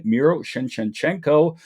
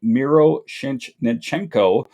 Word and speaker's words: Miroshnichenko: This all comes down to Ivan Miroshnichenko.